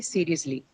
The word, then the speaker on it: seriously: Ly suffix, then automatically the stress has to be on the first syllable.